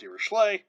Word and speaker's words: Dirichlet: a series of this form is called a dirachlay series so this is pronounced dirichlet um the only way i remember how to